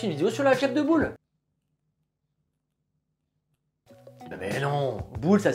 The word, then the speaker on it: Boole: Si vous voulez, il y a les commentaires pour que je vous fasse une vidéo sur l'algèbre de Boole. Mais non, boule ça s'écrit B-O-O-L-E.